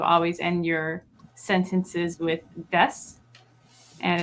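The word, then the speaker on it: です: end your sentences with des, and it's kind of spelled des, DESU. Yeah, but you don't pronounce the U; it's just des.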